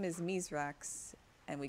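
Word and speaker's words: Misraaks: But yeah, so for some reason, like, everyone calls him Mithrax, even though his fallen name is Mizrax, and they're like, yeah, it's because the humans can't pronounce it.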